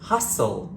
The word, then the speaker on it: hustle: fasten your seat Bel s t l e like in the word hustle and whistle just trying to keep